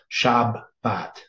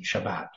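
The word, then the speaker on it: שבת: so shab and then if it has a dot in the center that means you double the b in in your pronounce Shabbat right still going to sound the same Shabbat but it's it's pointed differently then 7673 right so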